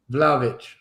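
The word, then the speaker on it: Vlahović: Is it Vlahovic? Am I pronouncing that right? Vlavic. Yeah, Vlavic.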